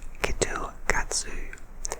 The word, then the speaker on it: KitKat: tea grape and wasabi the japanese pronounced kitkat like ketu katsu which means you are sure to pass in japanese and so they make